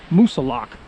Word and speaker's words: Moosilauke: the right track and told me that it's pronounced mount musa lock so not only do i know i'm on